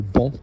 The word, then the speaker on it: banc: Bench, the word that you guys all pronounce wrong, le banc, un banc.